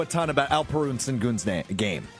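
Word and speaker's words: Şengün: Sengun, a lot of people that are maybe casual basketball fans, unlike me, don't know a ton about Alperu and Sengun's game, right? And is it pronounced Sengun?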